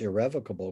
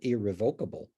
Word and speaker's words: irrevocable: you how to pronounce irrevocable because some people correctly call it irrevocable it's both acceptable but since you don't